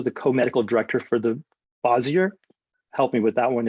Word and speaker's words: Bossier: The town's supposed to be called Bossier, but no one pronounces it the right way. We all just, Louisiana down it to Bossier to make it sound real easy and Southern.